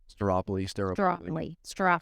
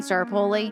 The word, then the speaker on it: Staropoli: You could say Staropoli. Staropoli. That's fine right there. I'm joined today by Staropoli.